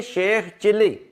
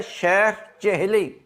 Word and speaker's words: शेख चेहली: गलत उल आम है एक और लफ देखें शेख चिली यह असल में लफ्ज है शेख चहली यह देखें श शेख